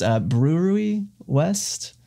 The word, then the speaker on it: Brouwerij West: What I chose for this week was, apparently you pronounce this Brouwerij West. Mm. It's, I guess, Dutch.